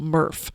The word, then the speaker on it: MRF: haul it off to what they call a murph which is a materials uh recycling facility i've actually got it in there i even said like how told people pronounce it murph but anyway it's mrf